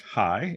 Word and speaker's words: HAI: This is the reason why the Stanford Human-Centered Artificial Intelligence Group, pronounced HAI, H-A-I, this past week in their spring annual festival, opened up with an extensive discussion about attempting to program ethics into algorithms.